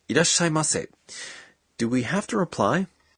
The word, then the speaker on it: いらっしゃいませ: greet us by saying, いらっしゃいませ. Do we have to reply? No, you could just smile and bow. When you pronounce いらっしゃいませ。 you stop your breath for one beat after da. いらっしゃいませ。